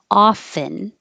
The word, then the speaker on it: often: Often with no T or often with a T. So if you say them both, I often say often.